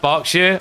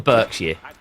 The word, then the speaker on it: Berkshire: And yeah, it's pronounced Berkshire. I'm a British person. Can authenticate. It's not the Berkshire or the Berkshire.